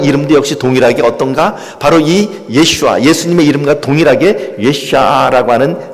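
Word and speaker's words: ישוע: 있습니다 그래서 어 그 예수님의 이름도 역시에 히브리 식으로 발음하면 예슈아 있데 그 예수님의 이름도 역시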